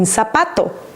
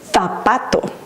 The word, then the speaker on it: zapato: Z makes two sounds. In Latin America, it makes the sound S, as in zapato. But in Spain, they pronounce it like with a TH sound, as in th, and they would say zapato.